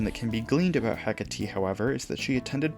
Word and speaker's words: Hecate: persona is hecate and i'll be pronouncing it hecate for this video because that's what ann says in game hecate originates from greek